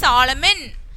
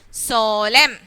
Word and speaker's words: solemn: solemn i didn't say solomon i didn't say solomon huh did i say that no why because here the n should be silent here the n should be silent so i'm not able to pronounce the letter n so i read as solemn okay so here we